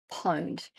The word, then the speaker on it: pwned: Have I Been Pwned? And yes, Pwned. It's spelt Pwned, pwned.